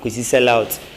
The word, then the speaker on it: Xelout: even WhatsApp I just type my name sellout. The sellout is spelled X E L O U T X X E L O U T.